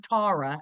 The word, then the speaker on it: Tara: So basically what the premise is, this woman, Tara, they call her Tara, as that's how they pronounce it in Ireland.